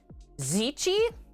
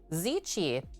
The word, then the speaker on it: ceci: according to your mom who speaks Italian it's pronounced zichi like that zichi I would have never known so thank you